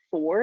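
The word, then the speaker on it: Fohr: that there's also um a company called four it's spelled f-o-h-r and so what they've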